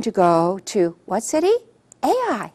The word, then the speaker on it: Ai: to the city of AI now AI how do you pronounce ai ai how do you spell it ai so if you're pronouncing it or you're spelling it it's all the same AI so it's very